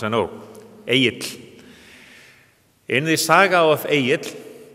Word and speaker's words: Egill: Icelandic names are hard to pronounce, I know. Egill.